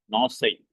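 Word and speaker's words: γνῶσις: அந்த காமால ஆரம்பிக்கிறதுல அந்த காவை வந்து ப்ரொனவுன்ஸ் பண்ணக்கூடாது, சைலண்ட். நாசை, நோசைன்னு வசிக்கணும். நோசை, குனோசைன்னு சொல்லக்கூடாது, நோசை. ஏன்னா காமா சைலண்ட்.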